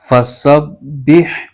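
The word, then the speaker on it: فَسَبِّحْ: کر پڑھا جائے گا۔ اس کے ہجے یوں کریں گے، ف زبر ف، سین ب زبر سب، ب ح زیر بح، فسبح فسبح۔ آگے با کے نیچے زیر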